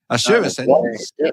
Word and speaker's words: Azurescens: It's called the Azurescens. Azurescens. Yeah, run it together like that, and then you've got the name.